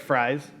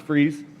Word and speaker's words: Fries: So, uh, as you might have seen on the very first slide, my last name looks like Fries. Um, it's pronounced Freeze, but so back when I was playing, I was probably Babe Ruth, playing 13-year-old.